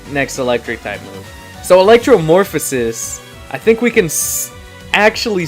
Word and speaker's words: Electromorphosis: So the two abilities are Electromorphosis. Am I pronouncing that correctly?